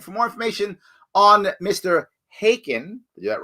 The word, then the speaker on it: Khaykin: Khaykin. It's a silent K in the beginning of my last name.